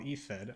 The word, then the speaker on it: IFED: So there's actually a thing called IFED, I-F-E-D, we pronounce it IFED.